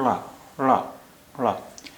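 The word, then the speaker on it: ಳ: जहाँ से आप ड़ा का उच्चारण करते हैं वहीं पर आप जीभ रखें और फिर ला का उच्चारण करें, तो वो जो आवाज़ होगी वो इसकी ड़ा की आवाज़ होगी।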